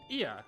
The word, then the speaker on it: Ea: When the vibration of vocal folds was still required to convey our thoughts and intentions, Ia, I believe, was the pronunciation used when referring to our people.